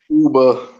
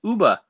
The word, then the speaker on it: Uber: Uber. Hey, you How do you say it? Uber. That's how you say it. It's Uber.